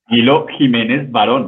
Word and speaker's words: Camilo Jimenez Varon: Camilo Jimenez Varon.